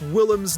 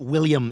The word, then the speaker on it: Willem: Now, if only Joe could learn to pronounce Willem's name correctly. Yeah, I just love William Dafoe. It's not William, it's Willem.